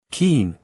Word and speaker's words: Keene: "Keene," he said quietly. One syllable.